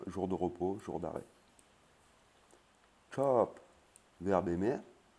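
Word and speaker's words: ชอบ: Chop, verbe aimer. Hein, la lettre O, A, qui veut dire A, qui se prononce A et pas O.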